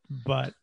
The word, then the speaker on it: Butte: We're going to call it Butte. Butte. B-U-T-T-E. Okay, whatever the county that is. You said Butte.